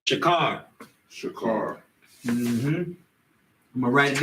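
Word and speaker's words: שָׁחוֹר: It's shakar.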